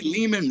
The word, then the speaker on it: Lehman: I'm Leman rhymes with demon.